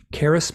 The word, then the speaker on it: Charis: Caris Melina Brown, and Caris is spelled Charis, and it might be Okay.